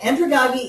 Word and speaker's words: andragogy: it up and that's what they said so andragogy is teaching adults uh pedagogi is teaching children